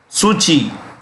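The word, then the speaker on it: Suu Kyi: president of the country suchi pronounced this k is pronounced with the c suchi is married to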